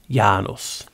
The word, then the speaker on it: Janus: this so why is the actual correct pronunciation of janus as janus with a y so we're made in